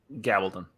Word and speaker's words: Gabaldon: Diana Gibbon has even said, I think that's how you pronounce it. Gabaldon.